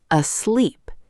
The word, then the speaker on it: asleep: The stress is on the second syllable. Asleep.